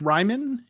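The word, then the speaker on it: Raimann: Is that how you pronounce his name? I think it's Ryman.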